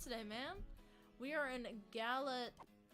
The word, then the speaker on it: Galatea: guess hypixel but yeah the pronouncing for it is really weird but it's G A L A T E A. Yeah, that's what it is. Galata. Galatea.